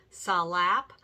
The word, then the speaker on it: slap: You're also going to notice that tap teachers say slap and flap as 2 syllables. Salap, falap. And that's because these are steps that make 2 sounds.